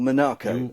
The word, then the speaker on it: Monaco: Nick and I'm in Monaco or monacco as we should say it properly in the Sterling Moss fashion Monaco and Monaco uh